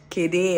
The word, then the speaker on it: Kade: Kede or something, but they spell it K-A-D-E. I don't even know why it's Kede and not Kade.